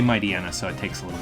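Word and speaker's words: Mightyena: you keep hitting aaron if you say mighty might i might might ain't there we go i say my diana so it takes a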